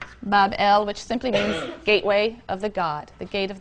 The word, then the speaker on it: Babel: magnificent Shrine or temple in Babylon pronounced Babel which simply means Gateway